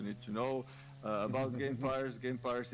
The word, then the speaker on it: Gamepires: Gamepires is similarly pronounced like vampires.